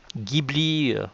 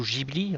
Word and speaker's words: Ghibli: Beaucoup de fans du studio Ghibli, ou plutôt Ghibli, c'est Ghibli en japonais et Ghibli pour les Français qui le prononcent, considèrent que le film Lupin, le château